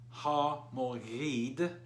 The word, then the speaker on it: Ha Moghed: call Armageddon which is better transliterated as ha mo heed the G is silent and Mari versus rock